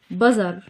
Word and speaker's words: bother: بذر، تي اتش نطقت زد، بذر بمعنى يضايق او يزعج.